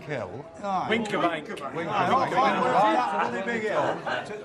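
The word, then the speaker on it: Wincobank: We went to the top of, how do you pronounce it, Winskabank Hill? Winkerbank.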